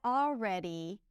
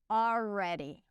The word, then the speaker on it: already: I already apologized. So I'm saying it with the intention of pronouncing the R correctly, rounding the lips, making sure the tip of the tongue doesn't touch anything.